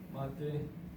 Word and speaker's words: mate: But to know mate is this cup, and the way I kind of explain to some people is that it's mate, it's spelled mate, but with the Spanish accent, mate.